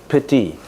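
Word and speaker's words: pīti: a a Sanskrit word p i TI pronounce it pity that is Rapture of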